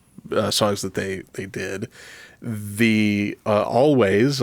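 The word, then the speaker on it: Alvvays: that they did, the Always, I'm just going to pronounce it with a W, always popped up on a recommended list for me.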